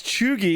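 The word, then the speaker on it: cheugy: a B for me Choi pronounced as chugi is used to describe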